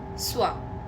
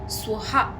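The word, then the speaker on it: स्वः: So it is Om Bhur Bhuva Swa, and most of us say Om Bhur Bhuva Swaha. Swaha is not the word, it's Swa.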